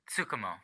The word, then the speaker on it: Tsukumo: Chris, do you know how to pronounce this? Yeah, it's Tsukumo. Tsukumo.